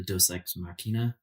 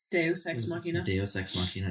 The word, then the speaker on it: deus ex machina: a lot of the tension with how to pronounce it the DOS ex machina deus ex machina yeah where like for example when they're in